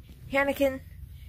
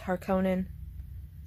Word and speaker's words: Harkonnen: Hanakin. Harakone. It's like, dude, that's Harkonnen.